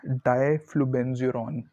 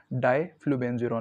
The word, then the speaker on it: diflubenzuron: सो इट्स डाइफ्लूबेंजुरॉन। डाइफ्लूबेंजुरॉन, मैं spelling जो आप लोगों को स्क्रीन पे दे रहा हूँ, DIFLUBENZURON।